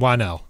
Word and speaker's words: Whannell: Whannell.